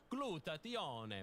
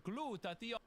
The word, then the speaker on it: glutathione: I pronounce it the Italian way, glutathione, but you can pronounce it however you want.